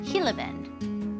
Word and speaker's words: Gila Bend: Ah, welcome to Hillabend. Okay, yeah. It's pronounced Hillabend with an H because it's Spanish.